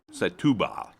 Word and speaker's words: Setúbal: Setúbal.